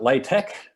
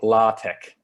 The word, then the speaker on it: LaTeX: on the on the latex website is you pronounce it latex or la tech um but certainly not latex not sure exactly the